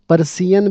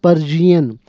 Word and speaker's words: Persian: बेटा ये लफ्ज़ पर्शियन नहीं होता, पर्सियन भी नहीं होता, ये लफ्ज़ है पर्शियन. वो जो याला बाली नहीं कहते हम जे से, या ये वो लफ्ज़ है, पर्शियन बोलना है हमने.